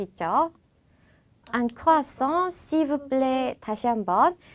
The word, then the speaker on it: croissant: 자, 크루아상은 un croissant. un croissant. un croissant. 자, 우리나라 말처럼 크루아상이라고 하는 게 아니라 그 에르 발음이 흐 발음이 나기 때문에 크루아상이라는 발음으로 바뀌게 됩니다.